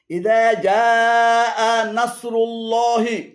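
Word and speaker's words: إذا جاء نصر الله: এখানে ইযা জাআ এবং আনাসরুল্লাহি উভয়টি ভুল উচ্চারণ। শুদ্ধ উচ্চারণ হবে ইযা জাআ নাসরুল্লাহি, ইযা জাআ নাসরুল্লাহি।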